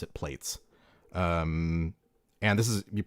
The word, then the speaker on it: Plaits: So anyway, this is a plates or for those of you in Europe, plats.